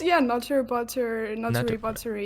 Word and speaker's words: NutteriButteri: I mean, it's just NutteriButteri.